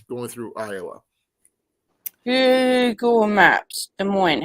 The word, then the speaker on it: Des Moines: Where's And Newton is east of Des Moines.